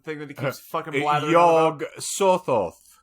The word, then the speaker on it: Yog-Sothoth: Yog-Sothoth knows the gate.